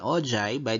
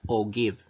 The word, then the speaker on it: ogive: since related histogram and ojai by the way we pronounce it as ojaib not o give so again uh example